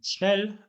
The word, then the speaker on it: schnell: jest swea czyli ciężko trudno jeżeli chodzi o wymowę w słówku snel jest krótkie ponieważ są d l czyli takie